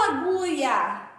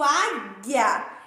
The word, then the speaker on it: águia: duas palavras água águia eu não falo allouia eu digo águia então ela é crime